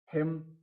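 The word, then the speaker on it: hymn: Column, column में N silent है। हिम, हिम में एल, एन क्या है, साइलेंट है।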